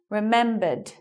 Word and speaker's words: remembered: Remembered.